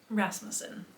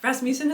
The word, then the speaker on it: Rasmussen: An emphasis on the ras. Yeah. Rasmusen. Rasmus. Way better than I was trying to say. Rasmutin is a very like east coast pronunciation.